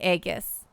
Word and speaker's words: aegis: panto is an ai it's definitely a soft g in aegis aegis aegis age egg